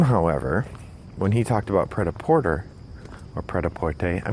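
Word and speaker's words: prêt-à-porter: no I'm reversing myself I'm gonna pronounce it the French Way so with Sam but with Sam the pret-a-porter discussion not only hinged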